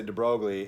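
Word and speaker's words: de Broglie: liveness is said and I might not always say drogley instead dbr or or in other words my my French pronunciation of his French name dbr but I'll say deb brogley and and do everybody knowing that Americans would speak it that way it's fair uh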